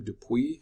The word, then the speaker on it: Dupuit: I believe that's a French name, dupuit it's pronounced.